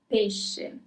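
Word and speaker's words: pesce: Pish doesn't mean fish, meat, or salad.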